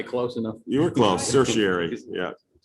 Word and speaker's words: certiorari: You were close, certiorari, yeah. There's a urge to always add the extra syllable that's not there for some reason.